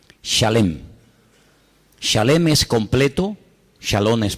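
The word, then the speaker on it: שלם: Se escribe exactamente igual que la palabra shalom, con las mismas letras, exactamente igual, pero se pronuncia diferente. Shalem.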